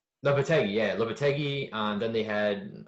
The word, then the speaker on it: Lopetegui: season, but 2 seasons ago, when they had Lopetegui, how do you say his name? Did I say it right? uh, Lop- Lopetegui. Lopetegui, yeah, Lopetegui.